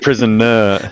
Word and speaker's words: Prism: Prisoner. Sorry. It's pronounced prison.